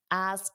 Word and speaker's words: ask: So that KS is a difficult sound. Let's practice that together. Ask someone. So you have to go ks, ask. So you do the K, your tongue flips, ask, and then you push